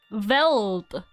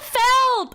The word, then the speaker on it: veldt: Veld. V-E-L-D-T. How do you fucking say this shit? I fucking hate it here. Veld. It's pronounced Veld. No, it's not the valet.